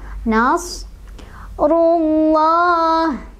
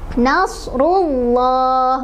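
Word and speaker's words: نصر الله: Cara bacanya adalah ditebalkan, karena tafkhim itu artinya tebal. Jadi nasrullah, bukan nasrullah, bukan nasrullah, ya.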